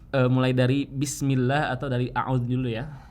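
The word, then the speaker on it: أعوذ: Nah, ini kita harus membedakan di lafaz a'udzu. Nah, ada huruf alif dan juga ada huruf ain, ada huruf hamzah, ada huruf ain. Nah, kedua huruf ini berbeda makhrijul hurufnya atau tempat keluar hurufnya. Kalau hamzah itu dari aqsal halqi, sementara ain itu dari wastul halqi.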